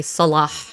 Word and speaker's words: Salah: Salah. It's Yeah, it's Salah. Yeah. So, it she says it salah like Allah or Salah.